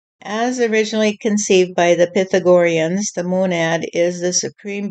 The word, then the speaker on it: Pythagorean: I thought it was but the the correct pronunciation apparently is Pythagorean Pythagorean you just put your finger on it stff